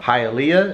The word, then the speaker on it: Hialeah: We're going to go to Hialeah. Is that how you pronounce it? Hialeah. Yes, it is. Hialeah.